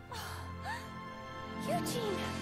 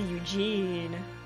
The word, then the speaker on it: Eugene: Eugene! I mean, the way she's pronouncing Eugene is how, like, Korean people would pronounce it. But she's English, so it should be Eugene.